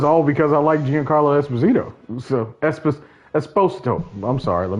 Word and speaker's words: Esposito: But that was all because I liked Giancarlo Esposito. So Esposito. I'm sorry. Let me pronounce that man right.